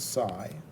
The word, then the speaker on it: psi: And he basically said that E dot dl is equal to this new factor, which is sigma, he called it, this is psi, pronounced psi.